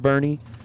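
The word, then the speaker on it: Boerne: Did we ever determine I know it's pronounced Bernie, but is it just spelled wrong on the screen or is it actually I don't know if we figured that out.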